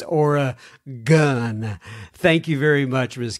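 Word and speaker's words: Oregon: is the Pacific Northwest also it's Ora gun not Ora gone no I have asked that question I guess a couple three times at least on the podcast how do you pronounce it okay so I can't guarantee hey I gotta remember this but for right now like at this moment I know it's aura gun thank you very much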